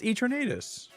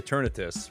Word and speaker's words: Eternatus: here there's cotton in the storage room it's eternatus people say eternus but it's eternatus I pronounce it eternatus not eternatus eternus sounds lame